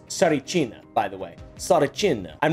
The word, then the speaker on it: Tsarichina: It's Tsarichina, by the way. Tsarichina. I'm really bad at pronouncing words consistently.